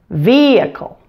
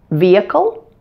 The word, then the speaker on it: vehicle: vehicle vehicle and again you can choose to pronounce the H in the word if you like but most commonly that H is silent so vehicle or vehicle now let's